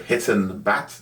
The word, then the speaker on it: Hiten Bhatt: podcaster and our guest this week is Mr hiton Bat did I pronounce that right correct okay hon is an